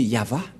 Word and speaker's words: Yahvah: de droite à gauche mais la vraie lecture de ce terme c'est yava je vais vous apprendre